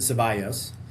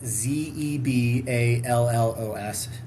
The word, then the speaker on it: Zeballos: Um he he's um President Zeballos, which is spelled Z E B A L L O S.